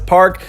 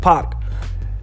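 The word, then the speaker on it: 박: comes to this common last name in Korean while I'm may have been romanized as park is actually more like pop therefore names like Park Chanyeol Park Jimin and Park poem are other true pronunciations of those names okay I'll admit I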